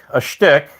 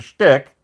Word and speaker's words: shtick: If you have a shtick, okay, with an H, you got to pronounce it with an H, a shtick in your possession, then you have a magical wand.